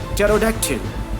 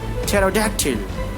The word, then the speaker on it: pterodactyl: not going to pronounce, we are not going to use that letter P, make it silent, make it mute. So here the example is psalm, cephalogy, cephalogy, pterodactyl, pterodactyl, pneumonia, pneumatic. So see here, combination of PS, combination of PS, combination of PT, combination of PN, combination of PN. Here in the all cases, P is silent, and you better understand